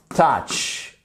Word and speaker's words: touch: let's keep in touch touch ok ça se prononce presque comme un e touch ok let's keep